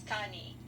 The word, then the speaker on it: Tawnee: So it's Tawny. Tawny. Yeah, it's like Shawnee Indians, but you drop the SH and you put a T, so it's Tawny.